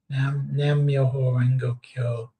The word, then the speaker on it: Nam Myoho Renge Kyo: How do you pronounce this? Nam Yoho Renga Kyo. Nam Myoho Renge Kyo.